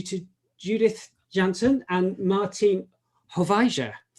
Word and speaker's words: Hoefeijzers: Judith Jansen and Martin Hovijzer. Hopefully I've pronounced your name right, Martin. Forgive me if I haven't. It's Hovijzers or horseshoes.